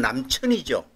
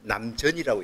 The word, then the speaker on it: 南泉: 그러니까 여기에 나온 거는 원래는 읽는 건 남천이죠. 근데 요 불교에서 요걸 남전이라고 읽어요.